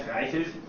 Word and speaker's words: Reichelt: Like in German, we would say Fred. Fred Reichelt. Yeah, so that would be the German pronunciation.